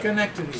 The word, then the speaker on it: Schenectady: How do you pronounce that? Schenectady.